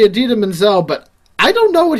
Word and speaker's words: Idina Menzel: like, I'm pretty sure he said he's meant to say Adina Menzel, but I don't know what he just said.